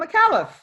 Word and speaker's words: Micallef: Now, you featured on the ABC documentary with Shaun Micallef. Is that how you pronounce his name? Yeah, Shaun Micallef.